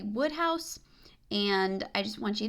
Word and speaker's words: Wodehouse: Also, somebody commented that the pronunciation for Wodehouse is actually Woodhouse.